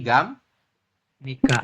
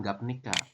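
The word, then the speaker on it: 갑니까: gimana jadinya gamni Jadi gam Nika gamnika gamnika bukan gapnika ya masih ingat tata bahasa g gamnika seperti ini ya jadi bacanya gamnika teman-teman nah ini ya tulisannya gapnika betul cuma dibacanya gamnika Kalau diartikan gimana Apakah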